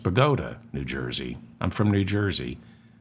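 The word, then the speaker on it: Bogota: the streets of boata New Jersey and it's pronounced bogot not bot no hold it it's pronounced bagota New Jersey I'm from New Jersey it's it's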